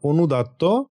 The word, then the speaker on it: অনুদাত্ত: এটা উচ্চারণ হবে অনুদাত বা লো পিচ এবং সরিত বা ফলিং বা সারকামফ্লেক্স পিচ।